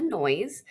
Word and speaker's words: Noyes: my name is noise um it's like the last name is fun because it sounds like a loud sound um pronounced like noise but it actually is spelled no yes so I actually do